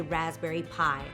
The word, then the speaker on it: Raspberry Pi: them what's called a Raspberry Pi. Obviously, it sounds like I'm telling you to buy them dessert. The Pi is spelled P-I, and it's actually a computer startup kit.